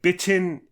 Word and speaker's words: bitten: um but I think the soft D like biton is 100% correct B is a th% incorrect